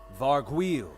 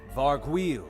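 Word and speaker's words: Vargouille: guys they're pretty intense Matt how do we pronounce this guy's name again varg wheel oh thanks wait how was that how do we say that again varg wheel oh thanks oh my God wait a minute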